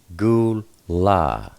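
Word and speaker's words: גֻּלָּה: And hey, in this case, is pronounced a. Gimmel, lammed, hey, gul la.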